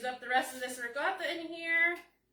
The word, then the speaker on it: ricotta: It's not ricotta. That's how us Americans say it, but that's not the Italian way. It's ricotta.